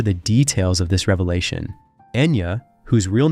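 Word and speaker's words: Eithne: Her real name is Ethna, but in the Donnagal dialect, it is pronounced as Enya, which later became her stage name.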